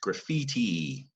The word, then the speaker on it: graffiti: Down at the bottom, the E in graphite is actually, it's almost like the E is pronounced, graffiti. All right, and this I-T-I ending, this is Italian.